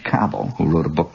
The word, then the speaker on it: Cabell: with james branch cobble some people call it cabell i think the correct pronunciation although i may be wrong is james branch cobble who wrote a book